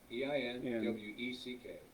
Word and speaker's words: Einweck: So And it's spelled E-I, EINWECK.